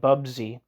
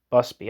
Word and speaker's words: Busby: to 1922 footnote see Margaret Bubsy me Margaret Busby Busby I was saying it wrong Margaret Busby article CLR